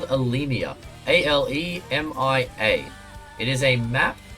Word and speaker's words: Alemia: This is called Alemia.